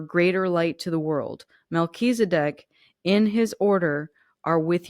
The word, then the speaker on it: Melchizedek: how it's pronounced because I never would have pronounced that the right way. Luckily, I've read this deck before, and it's Melchizedek.